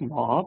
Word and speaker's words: MAHB: It is pronounced mob as in a mob of people working towards sustainability.